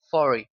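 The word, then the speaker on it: forty: el 40, que es for. La T se omite en el inglés rápido y en el inglés más formal, 40.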